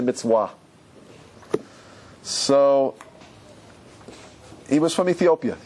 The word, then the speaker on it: mitzvah: They don't say mitzvah, they say mitzvah.